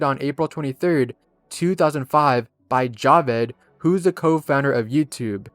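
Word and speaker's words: Jawed: and was posted on April 23rd 2005 by Javed who's the co-founder of YouTube and yes it's pronounced Javed not jod in the video it shows Javid at the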